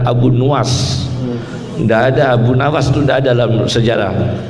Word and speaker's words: Abu Nuwas: benar bacanya Bang as-syaikh jangan baca Abu Nawas yang benar Abu nuwas dada Abunawas Sunda dalam